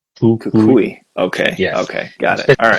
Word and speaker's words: Cucuy: I just say it's like it's spelled how it is. It's Koulei. Kakui.